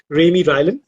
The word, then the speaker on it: Raimy Rylan: Before that, he has written a series for middle grade students, and the series was called The Hunts of Raimy Rylan. Did I pronounce that You correctly?